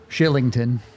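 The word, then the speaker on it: Kylington: what is the origin of the K pronounced SH? Swedish. The what? Shillington.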